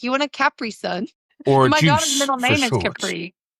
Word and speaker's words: Capri Sun: Capri Sun. Yeah. Is that how you say it? Capri? Capri Sun. I mean, the island's called Capri, but we call it a Capri Sun.